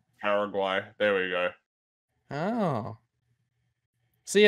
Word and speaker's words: Paraguay: pronounce uh it's why it is gwy okay paraguay yeah paraguay there we go oh